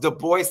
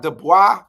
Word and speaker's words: Du Bois: And it is pronounced Du Bois, not Du Bois.